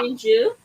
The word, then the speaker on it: Shinju: I'm not gonna pretend like I can pronounce this other one. But it's Okay. Sinju.